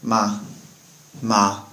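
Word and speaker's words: 吗: with ma it's pronounced ma ma and so you can see it's not really high or low or it doesn't have any sort of um rising or falling intonation uh attached to it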